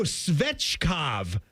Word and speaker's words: Svechkov: Sounds like the sex god.